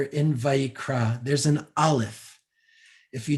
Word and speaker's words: Vayikra: If you don't know what an aleph is, it's again the very, very last letter, Vayikra. And the aleph is silent. That's the letter aleph. No sound.